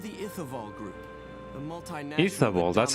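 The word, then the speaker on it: Ithavoll: Ithavol, that's how you pronounce it, huh?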